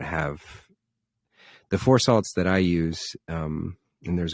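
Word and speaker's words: Phour Salts: It's called Four Salts, and it's spelled with a PH, PHOUR.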